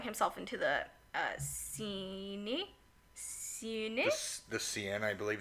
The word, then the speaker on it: Seine: The Seine, I believe it's Seine?